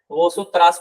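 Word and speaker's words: vosotras: अगर तुम लोग किसी को आपको प्रोनाउंस करना है और उस ग्रुप में सिर्फ फेमिनिन है तो वहां पे हम लोग वोसोत्रास प्रोनाउंस करेंगे, वोसोत्रास तुम लोग, Yes.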